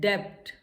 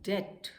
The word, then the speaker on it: debt: इसको हम कहते हैं डेप्ट. डेप्ट बोलते हैं. This is wrong. The correct pronunciation is डेट. बी is silent, B को नहीं बोलना है.